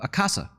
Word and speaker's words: Akasa: indian airline um uh akasa i think they're called it casa is how you say it in casa air